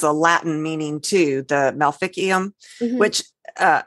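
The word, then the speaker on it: maleficium: know it has a Latin meaning too the malficium which uh it's melophicium actually but the um in Latin the seas are usually pronounced as the k sound the k sound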